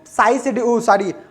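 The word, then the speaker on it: psi: करते मैं बता दो इसको साइज बोल सकते हैं पी एस सी ह आई इसकी स्पेलिंग होती है वो चीज आप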